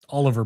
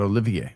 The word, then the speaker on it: Oliver: I don't know if it'll be fulltime, but Oliver Bonk, not Olivier.